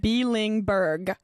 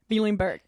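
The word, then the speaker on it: Bielenberg: And to pronounce that last name took me a second. Bielingberg. Okay? Bielingberg.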